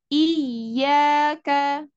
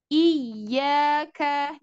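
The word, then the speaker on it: إِيَّاكَ: gitu ya ayat kelima iyaka iyaka di sini ynya ada tasdid ya tasdid itu ada yang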